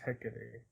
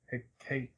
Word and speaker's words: Hecate: H used to mean tell us however you pronounce hey Hecate pick it to the greek goddess for darkness Hecate hey Kate Hecate yeah okay hey it was it was